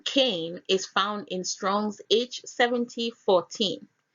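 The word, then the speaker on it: קין: The name Cain is found in Strong's H7014. It is pronounced there as Cain, which is Kof Yod Nun, which is Kyn.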